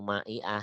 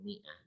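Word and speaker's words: مائة: Tidak sab'u ma'i'ah tapi sab'u mi'ah. Mi'ah, mi'atani, mi'atani. Sab'u mi'ah. Nah, lihat di sini. Walaupun alifnya ada dan wajib ditulis tapi tidak diucapkan.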